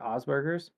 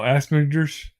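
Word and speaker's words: Asperger's: He's got was it Osberers? Oh, Asberers. Asberers. Yeah. Yeah. I always want to say it like that, but the fact that it has the first part in there is like, no, that's obviously wrong.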